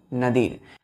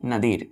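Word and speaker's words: nadir: क्या होता है बच्चों क्या पढ़ते हैं इसको नदीर प्रोनंसिएशन देखिए नदीर कितने लेटर है इसमें टूथ फर फ फाइव लेटर का एक वर्ड है नदीर नदीर का मतलब होता है बच्चों नितम क्या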